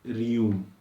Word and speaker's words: Rheum: Next remedy, is जो बच्चों में यूज होती है, एंड दैट इज रियूम। क्या है इसका स्पेलिंग? RHEUM, रियूम।